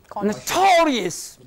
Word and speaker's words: notorious: Ending in? O-U-S. Syllable that precedes. Curious. This is to be made prominent. Notorious.